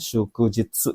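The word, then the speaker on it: 祝日: Ya, kanji yang ini ya nomor 6 itu bacanya adalah kanji nomor Ichibang nih, shukujitsu.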